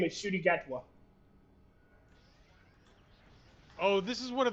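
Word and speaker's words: Ncuti Gatwa: name is shoy uh the actor's name is Shy gatwa oh this is one of those like he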